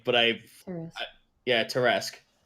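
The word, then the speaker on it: Tarrasque: everyone oh deep lore it was not tarisk that was pronounced tear-esque but i think wrote it it is it is pronounced that way but i yeah terresque that's neat now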